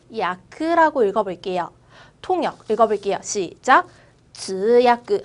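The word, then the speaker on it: 通訳: 우리 통역이라고 역자를 야크라고 읽어볼게요. 통역 읽어볼게요. 시작. 直야크 한 번 더.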